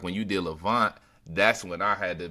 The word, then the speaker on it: LaVingt: So Levant, instead of LE with the accent VINGT, it's LA VINGT.